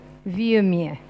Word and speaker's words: Vuilleumier: Entonces, la manera de pronunciarlo lento sería Viumier. Pero para hacerlo más simple, decimos Viumier. Viumier. Vu de la U. La I esa ni la alargamos y pasamos directamente al sonido E.